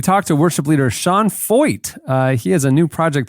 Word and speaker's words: Feucht: It's not spelled like that at all. Feucht.